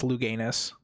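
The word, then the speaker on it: Louganis: Um, you did pronounce his name wrong. Oh, did I? Yeah, it's Luganis. Luganis.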